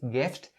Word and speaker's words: gift: For the second word in this phrase, gift, you also need to remember to pronounce its ending sound. Ft, ft, gift, gift.